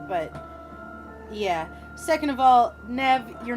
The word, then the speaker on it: Nev: It's Nev, like Nev Campbell.